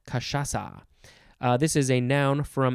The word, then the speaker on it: cachaça: I think I also use it in French maybe sometimes, but that becomes an S sound, cachaça.